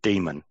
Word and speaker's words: daemon: pronounce it in greek it's pronounced demon there's um a greek